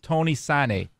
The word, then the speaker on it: Tony Sanneh: He played for DC United, the Galaxy, the Fire, the Power, Tony Sanneh.